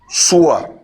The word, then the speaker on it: Yeshua: Après, on va aller lire Matthieu 1, verset 20, pour voir le nom de Jésus, comment c'est prononcé là-bas. Ouais, lis. C'est quel nom qu'elle a? Yeshua.